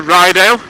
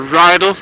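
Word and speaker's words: Rydal: just at kirkon there we're now coming to ryel or rideal depending upon how youd wish to pronounce it again a couple of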